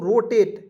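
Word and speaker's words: rotate: रो टी ए टी इसका उच्चारण जो है एट के रूप में करेंगे रोटेट रोटेट यहां देखिए मैंने आपको बताया एटी आएगा अंतिम में इससे पढ़ेंगे रोटेट रो यहां देखिए टी रो एट नहीं पढ़ेंगे रोटेट पढ़ते हैं दोस्तों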